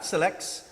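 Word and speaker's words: CILEX: And SILEX, C-I-L-E-X, would I be correct in the pronunciation of that? SILEX, for law students.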